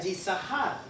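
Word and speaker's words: Isacar: Vamos a ir con Isaacar, que se pronuncia Yisahar.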